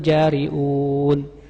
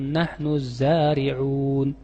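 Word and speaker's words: الزارعون: Aantum tajraunahu am nahnul jariun. Padahal harusnya apa? Aantum tazraunahu am nahnuzariun. Pakai zai dan ain. Tapi dia enggak bisa zai sama ain. Eh dibacanya pakai jim.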